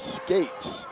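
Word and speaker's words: Scats: The PA announcer pronounced S-C-A-T-S as skates. Now, I'll be honest, I like skates.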